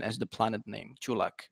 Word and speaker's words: Culak: natives always say is Kulik and I'm kind of going with that in Czech it's actually chu'lak so it's like choo choo know that the the